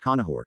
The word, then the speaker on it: Conchobar: court of his uncle Conchobar pronounced Conahor.